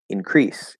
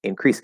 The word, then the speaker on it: increase: increase increase fine um now what about the other stress pattern um so if we say uh increase increase increase same idea same idea now because the stress is on the second syllable in the um increase in the noun um you need to increase it yeah in the noun form um it's probably more